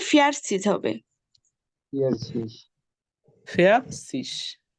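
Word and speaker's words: vierzig: fair সিজ হবে cis fair cis ও আচ্ছা আর রটা উচ্চারণ হবে তখন মানে র এই যে দেখেন সবসময় র এর একটু উচ্চারণটা একটু অল্প করার চেষ্টা করেন ফিয়ার সিস ওকে এই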